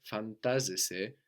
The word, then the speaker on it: φαντάζεσαι: And φαντάζομαι, φαντάζεσαι, is spelled NT. No, so this gives us either ND or D, depending on the dialect of Greek or the age of the person.